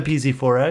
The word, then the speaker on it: bZ4X: Yeah, I have a bZ4X. It's like, no, I have a Tundra. Two syllables. bZ4X. Four syllables.